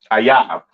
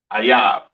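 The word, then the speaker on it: אויב: Ayab. Okay, that is how you pronounce enemy. All right, in the Hebrew, Ayab.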